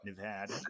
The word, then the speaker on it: Nevada: Nevada.